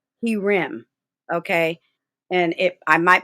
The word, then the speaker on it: herem: learn something more now this is not hair rem as in women this is he rem okay and if i